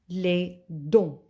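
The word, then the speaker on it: les dents: the mouth la bouche teeth lay don't t and s are silent lei don't last time we studied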